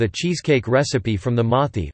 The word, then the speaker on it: Mauthe: cheesecake recipe from the Mothi pronounced Mote family of Macomb, Mississippi who operate the Progress Milk Barn, nearly destroyed by Hurricane Katrina.